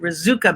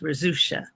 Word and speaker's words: Rizucha: He was Czech, and he used to pronounce it Rizuka because he thought it was easier for Americans to pronounce. But it should actually be pronounced Rizucha.